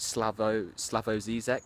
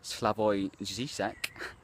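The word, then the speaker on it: Slavoj Žižek: a look at some of the things that Slavoj Zizek, sometimes pronounced Slavoj Zizek, has to say about psychology.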